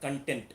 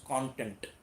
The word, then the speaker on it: content: content is also required please mind the pronunciation of this word it is not content it is content content dissatisfaction when it